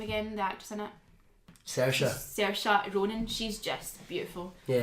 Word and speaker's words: Saoirse: The actress in it, Saoirse.